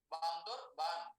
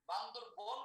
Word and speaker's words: বান্দরবান: আয়তনতম জেলাটির নাম, ক্ষুদ্রতম জেলাটির নাম হচ্ছে আপনার বান্দরবান। বান্দরবন বলে কোনো শব্দ নেই, সঠিক উচ্চারণটা হবে বান্দরবান।